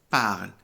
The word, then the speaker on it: parlent: La primera pronunciación, je parle. La segunda pronunciación, tu parles. La tercera y cuarta pronunciación, il et elle parlent. Junto con las dos últimas del plural, ellos y ellas, il parle et elle parle, se pronuncian igual en francés en todos los verbos de primer grupo.